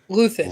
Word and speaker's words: Luthen: God, why don't I just Luthen?